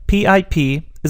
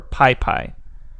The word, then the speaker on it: PyPI: python package index or pi pi and that's spelled pypi and basically that's going